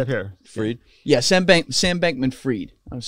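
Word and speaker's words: Sam Bankman-Fried: Sam Bankman Freed.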